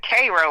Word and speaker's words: Cairo: It's actually they pronounce it Cro like the ser. Okay, there you go. Yeah. Uh so yeah. Um yeah, I'm from Cairo.